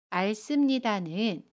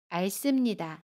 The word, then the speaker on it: 앓습니다: 알습니다는 알습니다 라고 발음해요. 겹받침 리을 히읗 중에 첫 번째 받침 리을을 발음합니다.